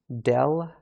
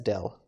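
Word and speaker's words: ∂: this is i say del f del x so this curvy sort of d shape we pronounce that as del alright and this is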